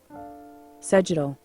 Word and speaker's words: sagittal: 메디안과 이제 평행하게 자른 면을 사지탈이라고 하고, 원래 진짜 발음은 사지탈이 아닙니다. 정확한 발음은 sagittal, 사지럴인데 다들 편하게 사지탈이라고 발음하게 되겠습니다.